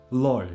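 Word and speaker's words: lloj: So LL this is pronounced LL and it's in the word loy.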